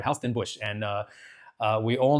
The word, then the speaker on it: Huis Ten Bosch: We went to a theme park in Nagasaki called Well, I would say Huis Ten Bosch, but the Dutch are crazy and apparently it's pronounced Huis Ten Bosch.